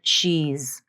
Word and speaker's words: she's: also important to note what happens to the final voicing of the Z Z in she's you may hear that the speaker doesn't fully voice the final Z maybe there's a little bit of voicing at the beginning of the Z but towards the end of the word the Z has become fully devoiced this is correct and